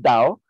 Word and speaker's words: Tao: Japan there is Taoism you'll sometimes see this spelled with the T but it's pronounced Dao the tradition of the